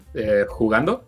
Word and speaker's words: jugando: That J is pronounced with a h sound, right? Jugando?